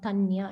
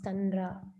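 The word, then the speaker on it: তাঁর: Tanra Dasiradas. It's actually not Tanya. It's Tanra.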